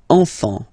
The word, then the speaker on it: enfants: Don't pronounce the T, you don't pronounce the S.